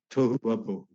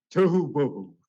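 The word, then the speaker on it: Tohuwabohu: And nothing like tohu wabohu. 다른 어떤 혼돈이 아니라 Not tofu. 부부하고 발음이 비슷하네요. 토후 바 보후인데 Tohu bohu.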